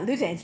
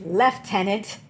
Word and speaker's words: lieutenant: Lieutenant right tenant except because Rosman Pike is British it's not Lieutenant it's left tenant and right tenant this is a this